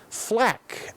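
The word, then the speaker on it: FL4K: to Axton the soldier flak FL 4k that's how it's spelt the Beastmaster calling more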